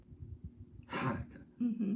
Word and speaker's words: Hanukkah: Hanukkah, because we're used to seeing H sound ha, but it's actually Hanukkah, a hard H, and it's pronounced it should be CHET.